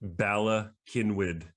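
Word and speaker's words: Bala Cynwyd: office in ella kenwid i lived there i know how to say it bella kinwood pennsylvania yeah among many of the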